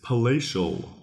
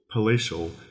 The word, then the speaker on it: palatial: our second word is palacial palacial it's spelled p a l a t i a l palacial it's an adjective palacial sounds very much like Palace and that's kind of